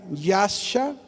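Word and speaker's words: ישע: describe salvación es una palabra con i gri yasha y a s a yasha repito y a s a así se escribe y significa yasha que es se traduce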